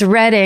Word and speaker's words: Reading: It is spelled Reading, but I bet it's Reading or some bullshit like that.